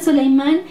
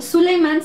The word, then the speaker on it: Suleimán: libro han encontrado que en español Suleimán se lee como so verdad y eh en Turco de repente bueno encontramos que su pronunciación es diferente más sutil y sobre todo con u verdad Suleimán el magnífico que bueno